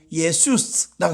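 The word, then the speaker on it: Ἰησοῦς: 70인역이라고 있는데 거기 이 여호수아를 읽어보면 뭐라고 하냐, 예수스라고 해놨어요.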